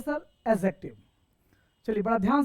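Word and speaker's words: adjective: कभी भी सेंटेंस में या कोई वर्ड में सर ए और जे के बीच अगर डी आए तो डी हमेशा साइलेंट हो जाता है। तो हम इसको एडजेक्टिव नहीं एडजेक्टिव पढ़ेंगे।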